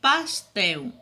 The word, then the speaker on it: pastel: Mas quando eu pronuncio pastel, chapéu, o som é de qual letra? O som é da letra U.